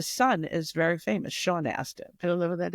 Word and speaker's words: Astin: Not Austin. Aston. Is it spelled like Aston? Astin. Astin. Yes.